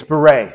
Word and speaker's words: Baret: It's Baret. Baret, okay. Because I've heard about it. The English pronunciation is Baret.